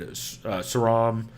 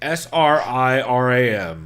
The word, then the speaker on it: Sriram: So you say it's Saram? It's Sriram, and yes, I do not say it correctly, Chris.